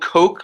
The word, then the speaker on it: Coke: And it's spelled Coke like the soda, but it's pronounced Lord Coke. So if you ever say Lord Coke, people know you don't know what you're talking about. It's Lord Coke.